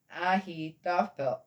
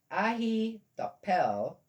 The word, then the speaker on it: Ahithophel: Ahithophel was Ahithophel. Well, a P and an H also makes an F. In my language is a lot closer to the Jewish language than English. Ahithophel was among the conspirators with Absalom.